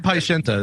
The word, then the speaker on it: Paiseanta: Paisayanta, is that right? Yes. Paisayanta. Okay, just making sure I get it right.